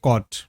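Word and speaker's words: caught: মনে রাখলেই হয়ে গেল জিএইচ এখানেও সাইলেন্ট শব্দগুলো দেখো সো ফারস্ট শব্দ রয়েছে কট সিতে ক সাউন্ড সিতে ক আবার এ ইউ জি এইচটি যদিও অনেকগুলি লেটার পাঁচটি লেটার রয়েছে সাউন্ড কিন্তু এখানেও জাস্ট অট তাহলে ক অট কট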